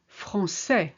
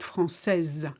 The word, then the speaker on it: français: Français, not française. You would only say française if there was an E on the end, and that means you're a woman.